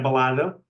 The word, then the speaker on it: Balada: Per tant, haurien de pronunciar Balada a la manera catalana, no a la manera castellana.